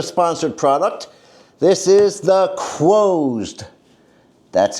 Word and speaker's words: Quoesd: This is the Quoesd. That's how it's pronounced, Quoesd.